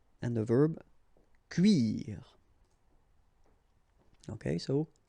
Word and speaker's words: cuire: Un cuir, and the verb cuire. Okay, so un cuir and then cuire.